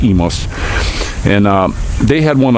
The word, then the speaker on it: Imus: up to emas and it's spelled with an eye you know like imus in the morning but it's emos and uh they had